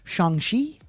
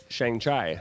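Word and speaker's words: Shang-Chi: as dawn told me it's pronounced shangshi not shang chai nope not shang chai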